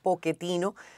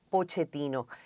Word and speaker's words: Pochettino: el que tú explicabas cómo era la pronunciación de tu apellido en italiano que se pronuncia poquetin pero que en Argentina sin embargo dicen pochetino hay algo que las